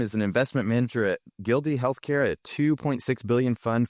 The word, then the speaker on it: Gilde: That's always a topic, and I can't pronounce it. So, Oh, no. no, yeah, I think it's Gilde.